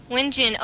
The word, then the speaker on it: wiNgiAN: wiNgiAN? Yeah, wiNgiAN? Yeah. wiNgiAN.